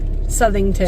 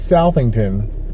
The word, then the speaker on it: Southington: Um, in how does she pronounce it? Southernington. Southernington, not Sington.